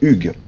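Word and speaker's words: Hugues: say the name Hugh in French Hugh uh ug ah and we usually have es S at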